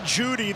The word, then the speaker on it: Jeudy: Jerry Jeudy, the E is silent.